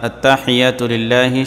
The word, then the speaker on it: التحيات لله: অনেকেই ভুল পড়ি আমরা এখানে, আত্তা লম্বা করি অথবা আত্তাহিয়াতু হিয়াতু এরকম পড়ি। সঠিক উচ্চারণ হচ্ছে আত্তাহিয়াতু লিল্লাহি, এরকম।